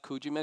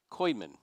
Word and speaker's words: Kuijman: It's not Kujiman, it's Kuijman? Koyman. Okay, I mispronounced it twice. Koyman, now I have it right.